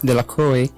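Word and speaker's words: Delacroix: and dicki de laqua the villagers pronounced this name the lacroy eventually made a great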